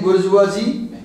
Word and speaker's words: bourgeois: the Cape opened a fresh ground for rising bourgeoisie. And be careful, there are two words, B-O-U-R-G-E-O-I-S, we pronounce as bourgeois.